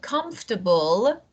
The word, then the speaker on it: comfortable: com and we have comfortable uh uncomfortable uncom just this is not fortable uncomfortable o is not pronounced so comfortable comfortable comfortable